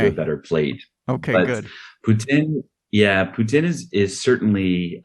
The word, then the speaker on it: poutine: So, it's not po, it's poo. And you drop the e on the end. So, putin or putin.